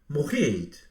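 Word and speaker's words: מועד: Historically, the Hebrew letter ayin in Moed carried a strong guttural GH sound, pronouncing it Moed. The core consonants are M, G, and D, which matches the Greek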